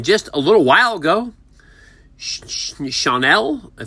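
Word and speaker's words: Schanuel: And then just a little while ago, Chanel, that's how you pronounce his name, first baseman for the Angels, was picked up.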